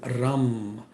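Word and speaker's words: रं: The mantra is Ram. A rolled R, U-M, Ram.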